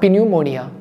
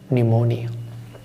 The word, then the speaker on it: pneumonia: mo na it's not be pneumonia P is silent the actual pronunciation is pneumonia and she would lie